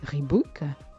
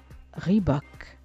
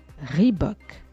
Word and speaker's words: Reebok: Vous avez pris l'habitude de le prononcer Reebok. Rendons justice au fondateur de la marque en disant désormais Reebok. Reebok. Et par contre, si vous savez rouler les airs à l'américaine, vous pourrez dire Reebok.